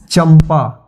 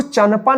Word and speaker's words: चंपा: जैसे चंपा, चंपा, इसको चंपा नहीं पढ़ेंगे, क्या पढ़ेंगे, चंपा। देखिए सी एच से च और इसके लिए ए एम लगेगा क्योंकि यहाँ पे उच्चारण हो रहा है चंपा, चंपा नहीं चंपा, तो ए एम और